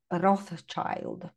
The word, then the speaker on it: Rothschild: Pojawiają się Rockefellerowie, Rothschildowie, czyli jak po angielsku się mówi Rothschild, tak? No, też fajna wymowa.